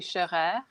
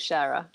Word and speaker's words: Scheurer: It's a Swiss name. So in French it would be Scheurer. In German it would be Scheurer, and in English we pronounce it Scherer.